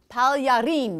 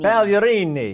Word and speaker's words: Pagliarini: How was the pronunciation? You know what? I'm actually really impressed. Let's do it one more time. Pagliarini. Pagliarini.